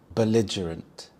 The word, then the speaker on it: belligerent: Belligerent. Belligerant. The stress is on the second syllable lige. Bell belligerent. We also have the schwa sound. The h sound. belligerent.